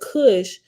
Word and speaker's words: Kush: at the bottom says the Hebrew word Kush pronounced Kush refer k-o-o-s-hoosh okay I said